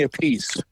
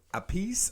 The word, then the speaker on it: Appice: So Ronnie James, him and Vinny Appice got together. We interviewed Mr. Vinny. Is it Appice or Appice? It's pronounced either way. He answers to both.